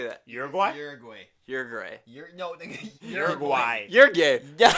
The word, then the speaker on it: Uruguay: and Uruguay. How do you say that? Uruguay.